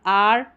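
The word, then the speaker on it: hour: कुछ अन्य वर्ड्स में एच साइलेंट रहता है, जैसे कि यहाँ पर है ऑनेस्ट, और आर या आवर करके भी इसको प्रोनाउंस करते हैं, और ये ऑनर।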